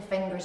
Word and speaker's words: fingers: So you don't put the hard g into fingers, it's fingers. If I make a fist, that's a knave.